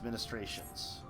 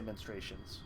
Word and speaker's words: ministrations: ready to begin his ministrations. Rest, Callista, I prithee. I shall attend to Runar's ministrations. Urianger's tending to Runar's ministrations. Really gotta pronounce that, though. Ministrations. You can't say menstruations.